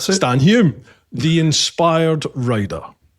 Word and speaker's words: Hulme: Stan is? Is that how you pronounce it? Hume. Just pronounce the L. Yeah, there you go. You're good to go. That's it. Stan Hume, the inspired rider.